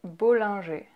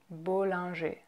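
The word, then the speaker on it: Bollinger: you have bull Andre bull Andre bull Andrei then you have theta a theta a theta G so you see how we don't pronounce the ER at the end of those two names it's just a at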